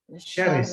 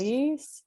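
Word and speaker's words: شرس: So like everybody knows, don't put a vowel on the last letter of a word because it's sukun, it's mute. So you read this as sharis. Sharis.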